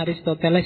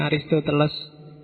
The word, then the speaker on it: Aristoteles: cucu muridnya socrates Aristoteles bacanya Aristoteles ya bukan arist Teles ya sok-sok di WO Aristoteles